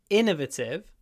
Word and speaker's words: innovative: a really Innovative device Innovative stress on the I Innovative but if it's a